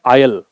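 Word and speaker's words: aisle: Passage corridor है या इसके लिए एक वर्ड होता है आयल। ए आई एस एल इ थोड़ा सा उच्चारण अलग सा है इसका।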